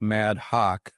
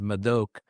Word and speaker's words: Madhok: It's spelled m a d h o case it looks like mad hawk but I've heard mad dog mad all sorts of things. The correct nation is mok.